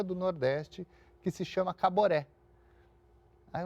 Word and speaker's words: Caboré: ele chama ele falou Caboré ele falou nossa e ficou com aquilo na cabeça porque era um nome forte né três sílabas uma sílaba tônica no final né Fácil de guardar de de pronunciar E aí acabou chamando